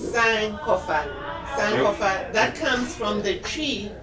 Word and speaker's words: Sankofa: The pronunciation is actually Sankofa, and Okay. it is See, I already Sankofa.